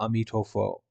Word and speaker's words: Amitofo: west is very important chinese people pronounce amitabha amitofo and so repeating the